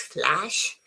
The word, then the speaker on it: flash: Because you see this is flash as in cat.